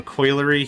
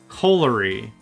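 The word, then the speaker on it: colliery: And we've got, yep, a coilery here. That's going to make the coal. Coalery. A coalery and a coilery are two separate things. I mispronounced it. I said coilery.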